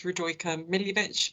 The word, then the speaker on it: Radojka Miljevic: just like to introduce yourself and correct my pronunciation thank you uh my name is rodroica milivech i'm a partner at campbelltokel and i'm here